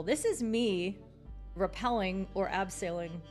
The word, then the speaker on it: abseiling: This is me rappelling or abseiling. Abseiling? My dad corrected my pronunciation on the German word, as he does.